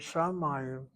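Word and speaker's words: שמים: Take the word shamayim, shamayim. These are good words to know. Shamayim is that word water, accent on that second of three syllables.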